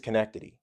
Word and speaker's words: Schenectady: But when the S is silent, it really is connectity, you know, and